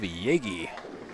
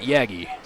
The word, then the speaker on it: Yagy: It is Dave Yagy, not Yagy.